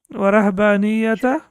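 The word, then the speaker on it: وَرَهْبَانِيَّةً: Warahbaniyata. Excellent. So there is a small noon inserted into that, and that noon is always with kasra.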